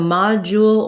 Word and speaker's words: module: asked about module so module or module you can kind of do an u there in the final syllable or an uh but we have letter o says ah that's where the stress is that's going to be long ma and then in american